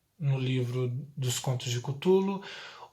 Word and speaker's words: Cthulhu: dúvida, o Cthulhu, que esse nome Cthulhu, na verdade, não teria pronúncia, igual Jeová no cristianismo não teria pronúncia. Cthulhu seria mais como Cthulhu, é mais como um grunhido mesmo, porque a primeira vez,